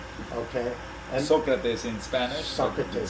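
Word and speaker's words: Sócrates: How do you pronounce? Okay. Socrates in Spanish. Socrates. Socrates in English.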